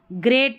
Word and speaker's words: great: तो यहाँ पर इस GREAT को ग्रेट पढ़ना है, EA को ए करके पढ़ा जा रहा है, ई नहीं पढ़ना है।